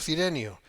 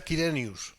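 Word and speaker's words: Quirinius: quiren gobernador de Siria Por qué digo kenio Y no cirenio porque se pronuncia así de hecho se pronuncia kiren Si miran aquí los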